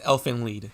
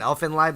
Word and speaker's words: Elfen Lied: Yes, because it's German, and IE in German is E, an E sound. So it's Elfen Lied. Yeah. All right. If people pronounce it Elfen Lied, that's wrong.